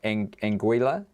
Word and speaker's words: Anguilla: Anguilla?